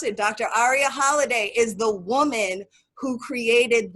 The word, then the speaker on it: Aria Halliday: Aria Holiday, that is her name, that is how we pronounce it. Dr. Aria Holiday is the woman who created that program.